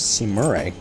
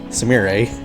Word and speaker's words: Sumire: Where's Simure? Where on earth is... Did I totally mispronounce it? Where is Sumire? Sumire.